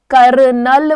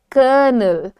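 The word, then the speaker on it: colonel: यह कंफ्यूजन है पर इसका correct pronunciation is कर्नल हाउ डू you pronounce it आर पे जोर आप कम दीजिए आप क्या कहेंगे क क कनल बोलने की जरूरत नहीं है इट इज कर्नल कर्नल null null is the sound so इसको प्रैक्टिस करो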